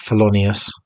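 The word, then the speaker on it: Thelonious: Colin Hawkins nice cover there swing and uh fonus is that how you say it felonius yeah this one which um a mate said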